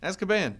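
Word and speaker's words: Azkaban: have to talk here the prisoner of asan as caban it's asan oh my God the prisoner of as caban stop it no asab as caban as caban you're putting you're putting too much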